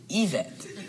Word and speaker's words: Yvette: I believe her name is pronounced Yvette. I was pronouncing it in English.